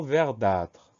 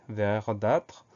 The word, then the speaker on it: verdâtre: Le mot suivant, c'est un mot qui est un petit peu rare, mais qu'on va apprendre aussi, c'est le mot verdâtre. Première syllabe, vert, V-E-R.